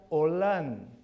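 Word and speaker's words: עולם: Una de las palabras que es utilizado para eterno se pronuncia Olam.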